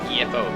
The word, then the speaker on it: MEFO: Well, not World War II per se, but when I feel like the MFO bill has it's passed its course. So MEFO bill, that's how it's pronounced.